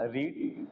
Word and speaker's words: read: फिर वर्ब है पढ़ना, रीड। रीड का सेकंड फॉर्म होता है रेड। स्पेलिंग वही होती है READ, प्रोनाउंसिएट चेंज हो जाता है।